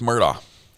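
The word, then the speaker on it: Murdaugh: We agree with Murdo, says the Supreme Court. Why do some people say his name with a K sound at the end? That's how he pronounces it. We agree with Murdoch says the the Supreme Court.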